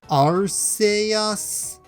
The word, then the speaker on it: Arceus: one let's find out you failed stalemate r say us none of these pronunciations were right so that's it then this